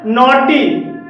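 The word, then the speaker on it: naughty: जी H silent है नॉट नॉट में ओयू के बाद जी एच है और यहां पर भी जी एच साइलेंट है ड्रॉट ड्रॉट में ओय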